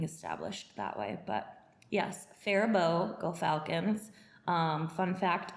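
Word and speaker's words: Faribault: I grew up in fairbow Minnesota go Falcons yes go Falcons the phabo Falcons and it is pronounced phabo not ferol yeah right it's the French influence right it definitely is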